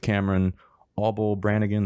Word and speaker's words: Cameron Auble-Branigan: Today's episode is Take 12 with Cameron Auble-Branigan. That's pronounced right?